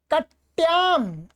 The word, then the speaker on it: कट्याम: कट्याम, ये क्या है, ट आधा है और याम ऐसा है, ठीक है।